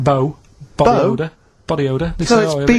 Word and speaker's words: B.O.: Like rain is the weather, and it smells like bow. Body odour. Body odour. So it's B.O. It's B.O. That's It's pronounced B.O.W.